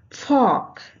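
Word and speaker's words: folk: फॉक, यहाँ ओ के बाद एल है रूल के अनुसार और इसलिए एल का उच्चारण यहाँ पे नहीं होगा और इस फॉक का मीन्स होता है पीपल, रेस, नेशन।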